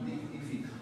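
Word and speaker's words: lignifica: Pero lo escribimos como que en origen latín. Y si lo pronunciamos liñifica. ¿Ya? Si pronunciamos ella. No debería ser así, pero lo pronunciamos así.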